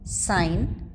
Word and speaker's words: sign: GH as in ghost a GH silent when followed by m or n as in flam sign not the alic variants